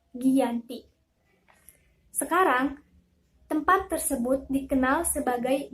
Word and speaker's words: Giyanti: 13 Februari 1755m Hai nama Giyanti diambil dari lokasi penandatanganan kejadian yaitu di desa Janti dalam pelafalan Belanda ia tersebut sebagai kiyanti dan sejarah tertulis ia terbaca sebagai Giyanti sekarang tempat tersebut dikenal